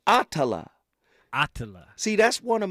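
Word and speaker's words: Attallah: say her name right atala atala see that's one of Malcolm's daughters ah AA you got to say that name right brother it's a powerful name not Ottawa Ottawa from Houston is on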